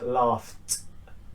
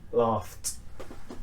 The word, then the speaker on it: laughed: Next one is a f ending, because in English gh is pronounced with a f. So we have laugh is the verb, and when we add an ed, it becomes laughed, laughed.